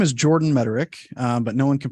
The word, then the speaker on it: Mederich: current Focus sure so my name is Jordan mederick but no one can pronounce my last name as we experience here